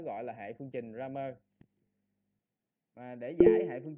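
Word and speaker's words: Cramer: Tiếng Anh nó đọc là Ramer đi, đọc Ramer đi ha.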